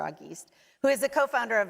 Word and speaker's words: Auguste: who is the uh See, Auguste, I used that, right? But that's not how you say his name. There's an Auguste conversation, but our panelist is Mr. Auguste, who is the co-founder of Opportunity at Work.